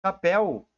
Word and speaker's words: papel: sílaba mais forte né o papel é uma oxítona ela tem a última sílaba mais forte o novo acordo ortográfico